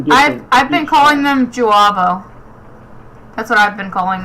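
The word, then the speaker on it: J'avo: I think the accent mark is supposed to be like for a U sound. I think it's supposed to be Juabo, because that's how Sherry pronounces it.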